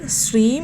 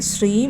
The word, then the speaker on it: ശ്രീം: ആയിട്ട് ഇരിക്കാനആയിട്ട് ശ്രദ്ധിക്കണം അതായത് ഓം ശ്രീം എന്നുള്ളത് ശ്രീം എന്ന് തന്നെ ചൊല്ലണം ഓം ശ്രീ എന്നായി പോകരുത് അതുപോലെതന്നെ ഹരീം ആണെങ്കിലും ക്ലീം